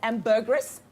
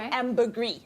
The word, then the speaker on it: ambergris: You can either pronounce this as ambergris or ambergris, all right?